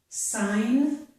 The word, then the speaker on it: sign: Also, if G plus N occurs at the end of a word, the G is usually silent. Okay, so this is sign, this is a line.